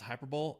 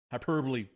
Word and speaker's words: hyperbole: and uncompromising uh wait it's not pronounced hyperb hyperb just saying yeah hyperbole um we are made